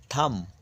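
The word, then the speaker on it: thumb: টি এইচ ইউ এমবি থাম এই বি এর উচ্চারণটা শেষের বি এর উচ্চারণ নেই থাম মানে বুড়ো আঙ্গুল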